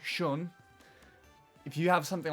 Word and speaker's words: Sion: Whereas if you have my name my the way that the name is spelled for me s iio o n shun if you have something